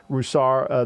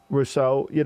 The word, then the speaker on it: Rousseau: He was only, Roussar, the kid they drafted in the first round from Miami, yep. Greg Rousseau, I think his name, I always mispronounce his name. Gregory Rousseau. Rousseau, thank you, fam.